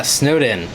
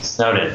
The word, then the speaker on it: SNOWDN: That's how you pronounce it, yeah? Yeah, SNOWDN. SNOWDN.